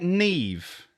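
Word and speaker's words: Niamh: i was gonna say it's seriously an irish name because it's it's like neve isn't neve yeah we used to know nev that's an irish name that's like spelt not the way it's pronounced drinks getting warm get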